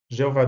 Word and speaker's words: Jeová: Jeová Deus é a pronúncia em português. No texto da Bíblia hebraica, encontramos Jehová Elohim, que é a pronúncia em hebraico.